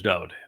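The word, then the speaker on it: דוד: And I use David because his name is Dode. Every song he wrote, his mizmor, his psalms, in his own hand, his name is spelled Daleth Wah Daleth. It is a Hebrew word. It means beloved, and that is his name. And every prophet that spoke of him wrote his name as Daleth Wah Daleth,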